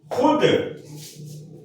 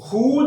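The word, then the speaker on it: خود: के आप देख लीजिए खुद आमतौर पर लोग खूद नहीं बोलते बल्कि खुद मैंने यह काम किया है यानी वाव लिखने में आता है लेकिन बोलने में साइलेंट हो जाता है खुद खवाहिश वा लिखने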